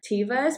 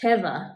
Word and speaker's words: Teva: for the same shoe and we always wear tivas but I also just heard that it's pronounced Teva really but apparently it's not pronounced that way